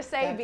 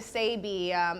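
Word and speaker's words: Sebi: Sabi. You gotta stay up. Yeah, Yes. Dr. Sabi, if you're not familiar with him, especially my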